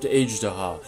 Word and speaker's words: Azhdaha: Azhdaha is actually pronounced Eij-Day-ha. It's a Persian word meaning dragon but I felt it didn't sound right here.